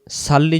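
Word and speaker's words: صَلِّ: অবশ্যই সদ অক্ষর লাগবে।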